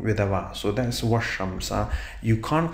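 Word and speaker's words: والشمس: So that's why we say that washamsa. We do not say wal shamsa because it's a solar letter here.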